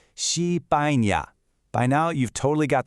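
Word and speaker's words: 西班牙: It's called Xipaña.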